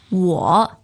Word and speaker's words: 我: 我, third tone.